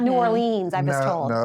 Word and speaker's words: New Orleans: Yeah, it's not New Orleans, I was told. No, it's New Orleans.